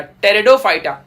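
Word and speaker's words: Pteridophyta: में पेड़ों फाइटर तेजोमय पीस साइलेंट है स्पेलिंग ध्यान रखना टेरिडोफाइटा टेरिडोफाइटा पड़ते हैं इसको ध्यान रखना हम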